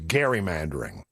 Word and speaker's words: gerrymandering: Yeah, they they they are uh bringing back the word uh gerrymandering. Actually, to be honest with you, I think the accurate pronunciation of is is gerrymandering because it was Eldridge Gary that was named